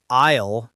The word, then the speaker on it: aisle: I always hear aisle in movies, but I never knew how to say it correctly. Yes, it's a tricky one. We write a i l e, but the s is silent.